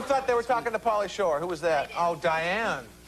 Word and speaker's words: Pauly Shore: Third lady said, I got a date with Pauly Shook. Uh-oh. No, come on. Say it right. Uh-oh. Got a date with Pauly Shore.